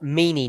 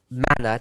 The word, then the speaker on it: manna: ist, this word for it's not mini now, it's manna, depending on how you pronounce it.